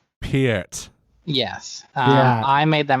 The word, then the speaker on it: Peart: Also, just before you get angry messages, you mispronounced his last name. It's Peart? Neil Peart. Peart.